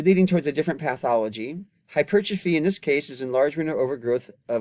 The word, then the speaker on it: hypertrophy: So this word looks like hypertrophy, and it is not pronounced hypertrophy, it's hypertrophy. And it's the same hypertrophy we discussed with the heart, especially with the left ventricle.